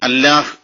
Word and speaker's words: അല്ലാഹ്: ഒരക്ഷരമായി മൊഴിയലാണ് പതിവ് അങ്ങനെയാണ് അൽ ഇലാഹ് എന്നതിലെ ഈ പോയപ്പോൾ അൽ ലാഹ് എന്നത് ആവുകയും അത് പിന്നീട് അല്ലാഹ് എന്നാവുകയും അപ്പൊ അതിന്റെ യഥാർത്ഥ ഉച്ചാരണ രീതി അല്ലാഹ് എന്നോ അല്ലെങ്കിൽ അള്ളാഹു എന്നോ ആയി മാറുകയും ചെയ്തു അപ്പൊ അതിന്റെ